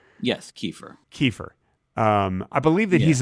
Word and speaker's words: Kiefer: That's by the way, that's how it's actually pronounced. Is Kiefer. Yes, Kiefer.